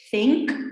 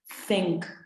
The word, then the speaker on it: think: Cuando pronunciamos think, pensar, una TH, vamos a meter la lengua entre los dientes y vamos a decir think. Think.